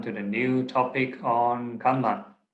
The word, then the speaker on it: kamma: So it's spelled as K-A-M-M-A, Kamma, right?